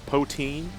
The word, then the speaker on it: poutine: as how to pronounce Akron oh it's a pronounced poteen Oh pootie I was just pootie to see